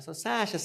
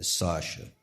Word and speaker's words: Sacha: Mas normalmente as pessoas pronunciam errado, né? Sacha, não é assim. É Sacha. Sacha. É assim que fala. Não é Sacha.